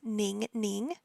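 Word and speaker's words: Ningning: common one so in Korean her name is ning ning so ning ning in Chinese her name is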